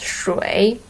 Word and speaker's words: 谁: The word 谁 is in like officially this word should be pronounced as 水, but actually when it comes to daily conversation, Chinese people tended to use the pronunciation 谁 instead of 水. 水 is more often used as in really formal occasions.